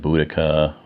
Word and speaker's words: Boudicca: may be familiar with queen Boadicea someone said somebody some people pronounce it Boudicca whatever she was a